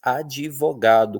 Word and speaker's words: advogado: advogado, que a gente sabe, né, que só na escrita que é assim, porque na fala a gente diz advogado, como se tivesse um i ali, tá?